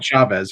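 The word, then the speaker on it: Chaves: I'm a Conjuring film fan, and I was very interested with, I want to pronounce it correctly, Chavez? Michael Chavez, yes.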